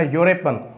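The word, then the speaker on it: European: जो कि वावल है, मगर अगर हम इस अल्फाज की इस लफ्ज़ की अगर हम प्रोनाउंसिएशन करेंगे, इसके उच्चार करेंगे तो ये होगा यूरोपियन. तो यू आ रहा है, यहाँ पे यू का साउंड आ रहा है, अ यूरोपियन, अ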